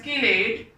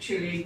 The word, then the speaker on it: chelate: Some people pronounce it as chelate, but I am used to of calling it chelate. Both names are correct. I have seen the dictionary. Both pronunciations are acceptable.